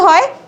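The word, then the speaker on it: who: আজকে আমরা শিখবো ইংরেজির সঠিক উচ্চারণ কিভাবে করতে হয় তা সম্পর্কে। আচ্ছা, তোমরা দেখো তো আমি বোর্ডে কিছু লেখা লিখছি, এখানে কি লিখছি তাকাও। ডব্লিউ এর পরে এইচ বা আর থাকলে ডব্লিউ এর উচ্চারণ হয় না।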